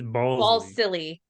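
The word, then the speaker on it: Balsillie: It's Ball silly.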